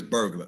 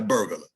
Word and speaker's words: burglar: it's not a burglar the word is burglar not a burglar okay now sometimes uh